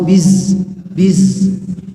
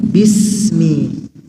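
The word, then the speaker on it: بسم: ini jadi atau sukun ya bis bis bukan bus bus atau Biz Biz Nah bukan seperti itu tapi Bismi Bismi Bismi dan huruf Sin punya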